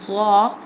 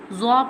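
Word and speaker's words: ظ: Now I'm telling the pronunciation of za. Za pronounced from the tip of the tongue touching the inner edge of the top two front teeth like this.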